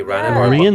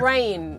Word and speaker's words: Rain: Rana, the wrong character. Rain. It's Rain. Sorry. No, no, it's this is fantasy world, so our names aren't always the most phonetically spelled.